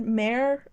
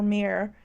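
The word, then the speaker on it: Tamsyn Muir: I've heard Mare or Mir. I've heard it pronounced Mare, like Mir. I keep saying it differently each time.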